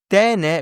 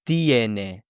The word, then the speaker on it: tiene: And so because there is stress on the E, it will split into IE. So it's not tene, but it's tiene.